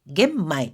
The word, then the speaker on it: 玄米: 현미는 玄米 겐마이 이렇게 마이라고 읽어줍니다. 미자를.